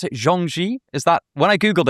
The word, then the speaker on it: Zhuangzi: I think Zhuangzi is the way that it's typically pronounced, as if it was modern Mandarin. Although, of course, I should say, people are always embarrassed about the pronunciation of this name. But the truth is we probably have no idea really how it was actually pronounced.